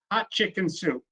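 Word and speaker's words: Hatshepsut: if you're listening here he told me how to say it and it's Queen hot chicken soup that's the easiest way say it as hot chicken - and she reigned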